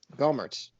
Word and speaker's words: Gohmert: Green, Louis Gohmert, Lance, it's Gohmert or Gohmert? I don't want to mispronounce it. Gohmert.